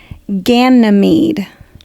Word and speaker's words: Ganymede: So we have to go into the Greek pantheon, and his name is Ganymede. Ganymede.